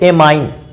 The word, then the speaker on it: amine: इसके बाद NH3 को अमोनिया कहते हैं, लेकिन यहाँ पर हम एमीन की बात करेंगे। इसके तो कई नाम, बच्चे अलग अलग प्रकार से इसका नाम उच्चारण में लिखते हैं।